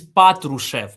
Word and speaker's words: Patrushev: And Natrush It's Natrusian. Am I pronouncing that correctly? Uh could could could you repeat this? It's the head of the SVR. I think it's it's it's it's it's Patrushev. Patrushev. Patrushev It's Patrushev, yeah.